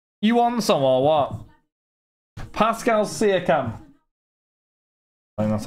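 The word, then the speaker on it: Pascal Siakam: Dorito from Co you want some or what Pascal cam that's how you say his name there we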